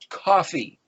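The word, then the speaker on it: כפי: He put the word hand, my hand is the word pronounced coffee. Kaf, pe, yod, coffee.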